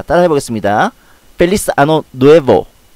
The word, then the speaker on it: Feliz: 여기서 Z는 S로 발음이 됩니다. Feliz는 행복한, Ano는 이어, 그리고 Nuevo는 해라는 뜻이죠. 자, 따라해보겠습니다. Feliz Ano Nuevo.